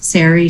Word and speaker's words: Sari: So as mentioned, my name is Sari. For those of you who may be grappling with the pronunciation, long story short, it's short form for Sarah.